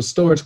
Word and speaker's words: Storj: is what is storage storage pronounced storage is an open source